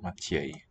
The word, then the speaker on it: Matěj: So I think what the accent on the E here is showing us is that it's a ye. So this one has a ye at the start and the end of the syllable.